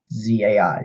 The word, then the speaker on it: Zai: what it's referring to and it's just sigh zai zai five Ted anees had a knees this